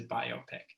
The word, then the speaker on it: biopic: derided, and that is the biopic, not the biopic, as some people call it. Even though I like that pronunciation because of the rhyme with myopic, I hear people use it a lot. I'm pretty sure the correct pronunciation is biopic. It's a biographical picture.